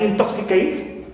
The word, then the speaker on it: intoxicate: the prefix in I like intoxicate in is neutral neutral sorry and to is stressed invaluable in neutal V